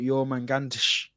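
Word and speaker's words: Jörmungandr: So the actual real pronunciation has got like a tsh on the end, so it's like Jormungandr.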